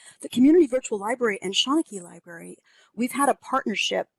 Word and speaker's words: Seanchai: So the Seanchai Library, and that's how you pronounce it, Seanchai, created the Dickens Project in